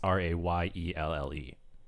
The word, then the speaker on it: Rheal: Because like I've met girls named Rheal, but it's Rayelle.